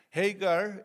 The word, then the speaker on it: Hagar: Hagar is that right? Hagar we in Turkish it's Hajar. So in English, excuse me if I pronounce her name differently.